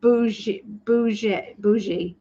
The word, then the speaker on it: bougie: Oh, so it's pronounced bougie. It's a bougie.